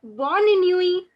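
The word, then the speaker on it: bonne nuit: bonnie newey now again the t of the new e is not pronounced so bonnie nui yes so good morning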